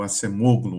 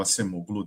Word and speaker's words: Acemoglu: o o Nobel de Economia, né, o o Acemoglu, o Acemoglu, depende como a gente pronuncia, ele falava, eh, fala, né, por que